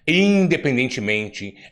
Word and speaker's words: independentemente: Infelizmente, independentemente, infeliz. Aí eu pergunto, na palavra por exemplo, infelizmente, né? Ou infelizmente, independentemente, na palavra independentemente, vamos colocar independentemente, qual é a sílaba tônica? É men, né? Independentemente, né?